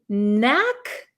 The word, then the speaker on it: knack: this is have a knack for something have a knack for something so you'll notice there is a k here but this K is silent we do not pronounce this K okay so it's the